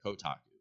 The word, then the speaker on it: Kotaku: it's all like the taco Kotaku KO and Kotaku don't don't make me spell it all right Kotaku Kotaku yes yeah so